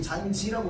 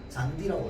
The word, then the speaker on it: 잔디: 우린 잔지라고 발음하지 않아요. 잔디라고 발음합니다.